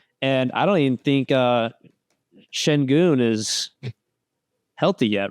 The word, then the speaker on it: Şengün: His last name is Şengün. It's not Sengun. It's not Senguin.